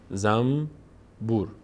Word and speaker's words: زنبور: نمیگیم زنبور میگیم زنبور بدون اینکه فکر بکنیم تلفظش این‌طوریه ما میگیم زنبور زم بور اصلاً کلاً نون تلفظ نمی‌کنیم میم تلفظ می‌کنیم زنبور بعد از نون